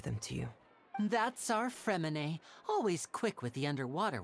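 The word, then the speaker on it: Freminet: about to give them to you that's our femine always quick with the underwater work all right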